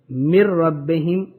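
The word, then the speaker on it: مِّن رَّبِّهِمْ: यहाँ नून की आवाज़ साइलेंट हो जाएगी, मिर रब्बिहिम नहीं कहेंगे बल्कि कहेंगे मिर रब्बिहिम, नून की आवाज़ बिल्कुल ख़त्म हो जाएगी।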